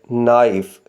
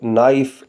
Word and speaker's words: knife: Word اس میں ہے نائف، KNIFE، 5 letters کے ساتھ لکھا جائے گا لیکن پڑھتے وقت کے کی آواز ادا نہیں ہوگی اور اس کو نائف پڑھا جائے گا۔ تیسرا سینٹینس ہے: رائٹ